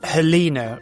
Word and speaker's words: Helena: Your name is pronounced Helena, right?